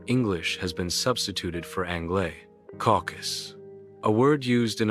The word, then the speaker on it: anglais: The Canadian French, of course, called the first settlers of New England l'anglais, be English, pronounced Angla, which with the Indians might easily slide into Yanka or Yankee, the French-sounding E as we do A. The authority adduced by Webster, Mr.